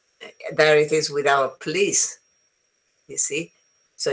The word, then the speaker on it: police: in a different way you say pol police and it's wrong it's police okay um and then you have about no go banana.